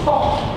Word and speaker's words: Toh: And another sebutan pronunciation of TWH is Toh.